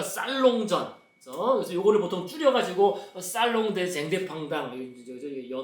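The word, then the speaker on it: Salon des Indépendants: 같은 해 창립을 하고 이제 같은 해 연말에 협회 주최로 제1회 독립미술가 살롱전, 그래서 요거를 보통 줄여가지고 살롱 대 쟁대팡당, 불은 연음되니까 살롱 대 자티스테 쟁대팡당 이렇게 되는데요.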